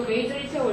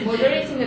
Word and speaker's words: majority: 이거 메이저리티라고 읽으면 바로 멍청이죠. 네? 머저리티인데 메이저리티라고 읽으면 바로 멍청이. majority.